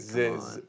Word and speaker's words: ZZ: By the way, my username is pronounced like it's spelled. Ziz, okay, dude, Ziz.